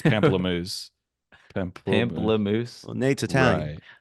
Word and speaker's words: pamplemousse: You're calling it pampussy, but I would say it's pamplemousse.